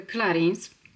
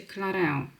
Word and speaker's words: Clarins: Zawsze mówiłam na tą markę Clarins, ale później gdzieś słyszałam, że wymawiali Clarence, a teraz sprawdziłam jak to się tak naprawdę poprawnie wymawia. To chyba wymawia się Clareo, ale dla mnie to będzie chyba i tak zawsze Clarins.